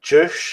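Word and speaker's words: Juche: how to pronounce it it's like ju or something ju u c h e and it's basically like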